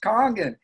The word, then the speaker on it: Kangen: I call it comms or honor because it's pronounced kangen and I I immediately for some reason my